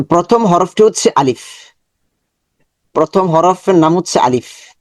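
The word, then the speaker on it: ألف: আলিফ আলিফ উপরের দাঁত নিচের ঠোঁটের পেটের মধ্যে স্পর্শ করবে এবং খুবই পাতলা হবে। সাউন্ড হবে পাতলা। আলিফ আলিফ। সাথে সাথে পড়বেন আলিফ। আলিফ। আলিফ। ভিতর থেকে বাতাস বের হবে।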